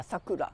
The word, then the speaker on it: sakura: talk us through the six stages is it pronounced sakura yeah sakura sakura can you talk about uh the sixth